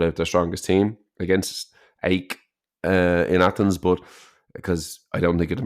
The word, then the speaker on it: AEK: I was in Athens on my honeymoon, actually, and we went to the AEK, they pronounce it Aik locally, stadium, and there was the